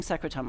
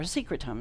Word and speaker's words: secretome: So you'll start hearing secretome a lot too, or secretome is the other pronunciation for it.